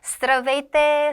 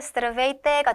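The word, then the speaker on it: Здравейте: 이거를 한번 조금 더 유창하게 발음을 해 보면 스트라베이때 스트라베이때가 됩니다.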